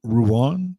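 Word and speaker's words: Rouen: he's from r r Ruan is how you pronounce it ruin Ruan Ron that's where he's from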